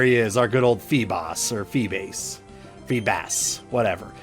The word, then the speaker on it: Feebas: It doesn't have 2 S's, so it's not Feebas. You know, there's not 2 S's, so I'm going to call it Feebas. Amazing how adding an extra S makes it Bass, and having 1 S makes it Boss in my eyes, but that's just the way it goes.